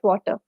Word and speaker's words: water: can you find fresh water and before we actually move on the term is pronounced as water the last R in water is silent so you say it as water okay water it's not